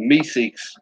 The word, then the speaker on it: Meeseeks: A Meeseeks, not a Meeks.